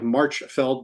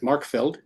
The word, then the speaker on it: Marchfeld: call the Markfeld, or in English it looks like Marchfeld, but they pronounce it Markfeld, which is an enormous it's not the vasty plains of France, it's the vasty fields of Austria.